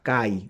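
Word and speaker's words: καί: Que se escribe una K-A-Y, Kai, Akai.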